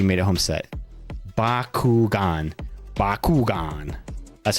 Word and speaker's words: Bakugan: Bakugan. That's how you pronounce it.